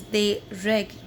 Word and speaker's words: règles: Students, one more thing, we do not pronounce s of the plural, so it is not des règles, no, it is des règles.